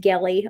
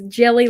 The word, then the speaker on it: Gelly: little bit of zazao it is absolutely not pronounced Galley I'm pretty sure it's jelly like a gel pen yeah not Galley like